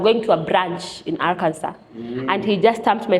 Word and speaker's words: Arkansas: Kenya I was reading I'm going to Aransas but no it's Arkansas and I've even heard